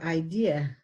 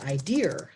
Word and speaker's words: idea: idea we can do idea there you go yeah and sometimes you hear idear so you know that they're adding an ER to it and then we have